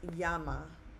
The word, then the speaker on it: llama: If you had the word llama, okay, how we pronounce it in English, but in Spanish, it's it's pronounced yama. Okay, it's not spelled that way, but it's pronounced as a Y.